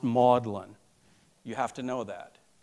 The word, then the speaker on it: Magdalen: young professor at oxford it looks like magdalen college but it's pronounced maudlin you have to know